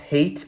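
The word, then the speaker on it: Hayt: a bit more angry, because his name is pronounced Hate, apparently.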